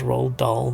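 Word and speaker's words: Roald Dahl: remind me of um people still read those R doll books is how you pronounce his name used to read a lot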